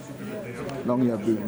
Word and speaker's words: Longyearbyen: Longyearbyen is how it's pronounced.